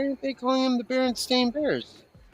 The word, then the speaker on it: Berenstain: Berenstain?